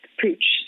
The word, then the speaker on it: Puig: my current role with pooch so it's puig most people don't know how to pronounce it i was included